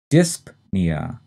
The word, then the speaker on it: dyspnea: The next term is dyspnea, and like apnea, the stress is in the first syllable, and we say that P, dyspnea.